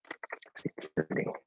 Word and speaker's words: security: Also notice, of course, as I'm looking this up, that the T, at least in American English, in security is a flat D because it's at the start of a syllable that is not stressed. Security.